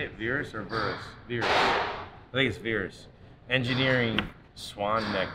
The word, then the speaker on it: Verus: is how you say it virus or verus veers please veers engineering swan neck wings yeah he's